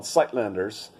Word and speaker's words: Suidlanders: It's called Syidlanders, and it's spelled Suidlanders.